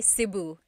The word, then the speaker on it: Cebu: So, technically in the Tagalog alphabet, the letter E can be pronounced E or E like the letter I. So, I say Cebu. Cebu. And I know some people say su, but usually it's either Cebu or Sebu.